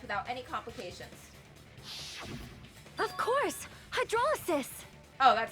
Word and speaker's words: hydrolysis: Hydrolysis! Oh, that's how you pronounce that.